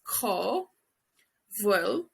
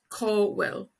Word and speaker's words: cá bhfuil: cá, bhfuil, cá bhfuil, cá like the bird, the sound a bird would make, a crow, cá bhfuil in Munster, and then in Ulster and Connacht they pronounce the BH like a W, will, cá will.